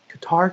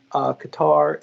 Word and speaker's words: Qatar: And then Qatar as well. Sorry, Qatar is ready. That's how you say it correctly, my bad.